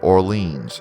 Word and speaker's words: Orleans: again to Orleans Avenue note that this is pronounced Orleans as it doesn't have the word new in front of it this is the correct